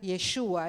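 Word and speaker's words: ישוע: Saben que la palabra Josué y Jesús en hebreo se pronuncia Yeshua, es el mismo nombre.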